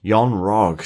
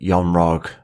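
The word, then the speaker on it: Yon-Rogg: I do feel that yon Rog well it does it rhymes with eggnog Yan ra yes Jude Law returning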